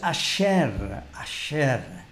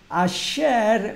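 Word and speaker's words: אשרי: Allí la palabra bienaventurado en hebreo es una palabra que se pronuncia más o menos asher.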